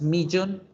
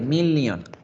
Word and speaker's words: million: lyon 1 millón ojo no es millón en inglés no existe la palabra y la pronunciación iutet de la doble l sólo se dice una l million y lo mismo el